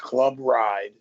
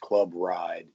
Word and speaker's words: Club RYD: pronounce that I just recently opened it it's pronounced Club ride the r it's Club ryd pronounced Club ride um the ryd stands for recover your dreams